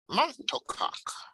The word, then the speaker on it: monocoque: but that's also a monocoque chassis too. But it has a drive shaft. Monocoque. Is that really how you pronounce that?